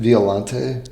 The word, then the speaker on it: Violante: Or spell it, just that would be fine. Violante.